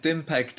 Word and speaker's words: Dimpact: Is Dimpact the way I should be pronouncing it? Is that okay? I think Dimpact is the pronunciation I use, yeah.